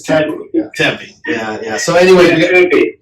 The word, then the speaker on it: Tempe: I think it's Tempe.